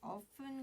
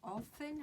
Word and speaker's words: often: 이 often 같은 경우는 발음을 often 하셔도 되고 often 하셔도 돼요.